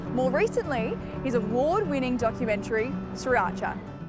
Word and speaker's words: Sriracha: Three very distinct syllables. Sriracha.